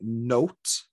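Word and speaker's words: nowt: So where I'm from, it's pronounced more like note.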